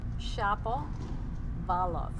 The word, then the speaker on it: Shapovalov: Shapovalov. Oh. Shapovalov. How do you spell it?